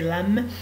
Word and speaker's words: lamb: We don't pronounce this B, we don't pronounce it, we say lamb, snake, crocodile, butterfly, bee, scorpion, owl, dolphin, spider, donkey, giraffe, tiger, leopard, rabbit, horse, camel, turtle, dove, ant.